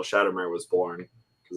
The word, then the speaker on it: Shattermare: And so your company is Shattermare Comics.